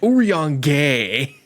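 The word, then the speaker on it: Urianger: Oran J Oran J my sister was on my ass about this character's name pronunciation and I got it right I was saying like urang gay oh my god there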